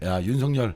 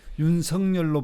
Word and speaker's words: 윤석열: 사람이 어려움 또 사실인데 본인 이름도 실제 발 처 발음 어려운 쪽에 그래서 윤성 열로 바람 해달라고 했는데 실제로는 윤석 열이 자에 이음 으로 발음하는 게 오히려 윤석렬 이렇게 하는게 발음은 부드러운데 그 서글 성으로 하면